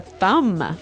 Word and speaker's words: thumb: Do you say the B at the end of this word? No, I actually only pronounce the M, the Yes.